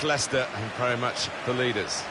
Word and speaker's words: Leicester: Lysester, Lychester. We got a lot of that, didn't we? But very much Leicester and very much the leaders.